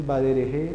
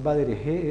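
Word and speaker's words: בדרך: Eso no es el badereje, ajá, no, nada de eso. Esto es simplemente baderej. Al final no suena. En el vocabulario con melej lo teníamos. No es meleje, es melej. No es badereje, es baderej.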